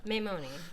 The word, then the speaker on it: Maimone: Hello, we have Giovanna, and how do you pronounce it? Maimone. Maimone.